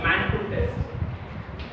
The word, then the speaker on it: Mantoux: So it should be pronounced as Mantoux test.